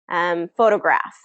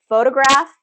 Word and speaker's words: photograph: Okay, so what we're going to identify is On photograph, there's 3 syllables. Which syllable is getting this longer, louder, higher pitch pronunciation? So listen to it. Photograph, photograph, photograph. So if you can follow